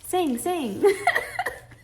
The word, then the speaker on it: Sing: night tonight and watch sing?" That's what it's called. But you say it like you're giving a command and not like it's a place. It's a place. Sing.